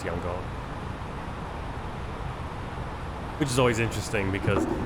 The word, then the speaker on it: Yangon: It used to be Yangon, or the way they used to spell it. Or no, Rangoon. Rangoon. Now it's Yangon.